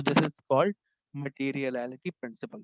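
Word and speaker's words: materiality: तो this is called मटेरियलिटी principal. थोड़ा सा प्रोनाउंसिएशन में इसमें इशू आएगा, मटेरियल टोटलिटी से इसको याद रखें, ठीक है।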